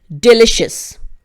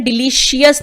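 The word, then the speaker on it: delicious: इसका भी देखिए प्रोनाउंसिएशन डिलीशियस नहीं होगा, इसका भी कुछ रूल है, मैं आई बटन में लगा दूंगी, देख लीजिएगा मेरा प्रोनाउंसिएशन के उसमें। डिलिशियस, इस पूरे को आप पढ़ेंगे शस, ठीक, डिलिशियस।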